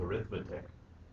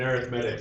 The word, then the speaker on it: arithmetic: It's got something to do with arithmetic. Is it something mathematical? It's an arithmetic series. So we won't we won't pronounce it arithmetic.